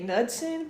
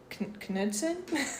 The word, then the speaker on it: Knudsen: I say Knudsen, but I've heard it Knudsen. Like we pronounce the K. It's hard to say if it's silent or not sometimes.